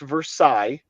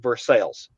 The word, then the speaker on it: Versailles: It's not pronounced Versailles.